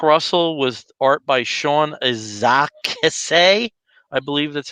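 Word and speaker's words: Izaakse: south africa his name is his name is pronounced isaacs isaacs okay so this is how you pronounce it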